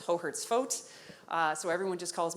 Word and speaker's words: Hohertz-Foat: that even my own family has problems it's hohertz vote uh so everyone just calls me i